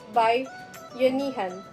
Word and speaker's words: bayanihan: The bayanihan, pronounced as bayanihan, a Filipino custom, derives from a Filipino word bayan, which means nation, town, or community.